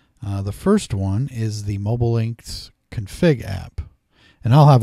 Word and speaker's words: Mobilinkd: link D I guess it's our mobile linked is how they pronounce it um you're going to